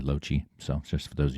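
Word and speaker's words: Loche: That's how you pronounce my name, by the way, LoChi.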